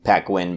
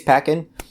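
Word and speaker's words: Paquin: around anna pakkin's character i believe that's how you pronounce her last name it could be pacquin but i think it's peckin uh most people know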